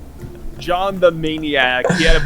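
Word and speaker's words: Jawn: And his name is spelled J A W N. Yeah, J A W N. John the Maniac.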